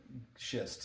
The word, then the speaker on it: schist: And make sure you get that pronounced correctly. Garnet? Schist.